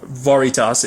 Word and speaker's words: Veritas: thing as a title Veritas or varitas if you depending on how you want to pronounce it I've always said